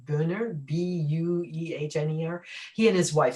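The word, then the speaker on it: Buehner: a felony mark i'm going to destroy the pronunciation booner b-u-e-h-n-e-r he and his wife so he's the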